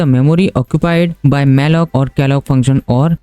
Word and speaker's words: malloc: करते हैं तो हमारा पहला फंक्शन होता है मैलक फंक्शन एड एल ओ स इसका स्पेलिंग होती है मेलक फंक्शन मेलो फंक्शन क्या